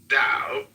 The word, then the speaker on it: Tao: The word Tao, properly pronounced Tao, has lent its name to a way of understanding and living in a world with profound implications for modern societies.